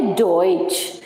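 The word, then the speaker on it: Deutsch: इसीलिए जब हम इस वर्ड को पढ़ रहे हैं तो ये हमारा बन रहा है डॉइच.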